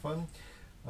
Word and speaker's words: FUUUN: FUUUN or we pronounce it “FUN”.